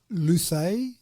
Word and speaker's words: Luce: Yeah, and I assume it's pronounced Luce, L-U-C-E. Luce? Would it be Luce? Yeah, Luce sounds better.